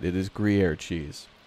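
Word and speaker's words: Gruyère: It is Gruyere cheese.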